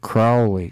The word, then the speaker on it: Crowley: crowley but crowley is if you think he's fowley so you pronounce it crowley like growl crowley i love the crowley